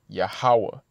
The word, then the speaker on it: Yahawah: and the ha connect so the name is pronounced yahawah which means he is okay he's the Ancient